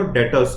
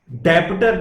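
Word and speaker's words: debtor: फिर ये जो चेयर है ये आप सेल करते हो डेटर्स को. डेटर्स मतलब कि कस्टमर्स. डेबिटर नहीं, डेटर, बी साइलेंट.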